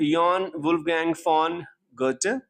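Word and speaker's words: Johann Wolfgang von Goethe: तो ये जॉन है पर ये यॉन बोला जाता है, यहाँ वॉन है पर ये फॉन बोला जाता है, ये गोएथे है कहने के लिए पर ये गर्ट बोला जाता है।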